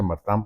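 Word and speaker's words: Martin: Se escriba Martín, se pronuncia Martán porque son franceses.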